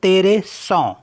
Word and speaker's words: train: और next word है INTERESANT, तो इसके IN को क्या पढ़ेंगे है ना, तो आन तेरे सौ मीन्स इंटरेस्टिंग।